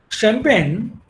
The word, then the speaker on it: champagne: at least idea that if a word is a french then it should be champagne is a french word then ch must be shown if the word